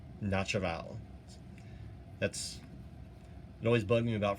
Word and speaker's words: naturel: I don't think you pronounce the M though. Okay, Logarithm Naturel.